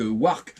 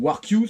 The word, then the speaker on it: WarQ: Et puis pour essayer de faire un petit comparatif pour ceux qui connaissent les produits de la marque Wark ou WarQ, c'est comme vous voulez au niveau de la prononciation, moi j'ai le mien